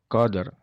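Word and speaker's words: قدر: Nah movie lailatil Qadr Al Qadr itu di akhir itu cara bacanya dari tekan Qadr ya kode eranya tipis ya kadernya tidak pel kuat cara bacanya adalah ditekan jadi in the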